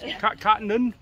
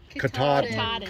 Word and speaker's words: Katahdin: Cottonden? Katahdin.